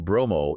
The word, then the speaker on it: Bromo: And the name Bromo is the Javanese pronunciation of Brahma.